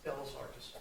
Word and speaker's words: Bellas Artes: How is it pronounced? Just BELLAS ARTES? BELLAS ARTES.